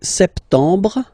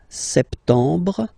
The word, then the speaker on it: septembre: So septembre, septembre. Remember this EM en septembre. Brr. You don't insist on the final E. Septembre, septembre.